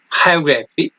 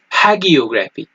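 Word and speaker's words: hagiography: यहाँ पे एक वर्ड है जिसको आप दो तरीकों से प्रोनाउंस करते हैं, हायोग्राफी और दूसरा हैगियोग्राफी। तो हायोग्राफी ब्रिटिश एक्सेंट में आप इसको बयान कर सकते हैं, प्रोनाउंस कर सकते हैं, और इसको हैगियोग्राफी जो है वो अमेरिकन एक्सेंट में इसको प्रोनाउंस कर सकते हैं। इसलिए मैं ज्यादा स्ट्रेस ब्रिटिश एक्सेंट पे देता हूं, क्योंकि मैंने ब्रिटिश एक्सेंट सीखा है, इसलिए मैं इसको हायोग्राफी ही पढ़ूंगा।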